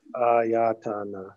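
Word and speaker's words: āyatana: So it's not like, yeah, it's not like Italian. Sanskrit is like Ayatana. Yeah, like Ayatana.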